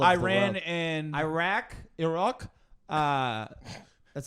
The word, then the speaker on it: Iraq: and Iraq, that's how you say it.